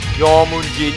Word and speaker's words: Jormunjin: It's Jormunjin, pronounced as that. I don't know whether you think it's nice. It's spelled as J-O-R-M-U-N and J-I-N.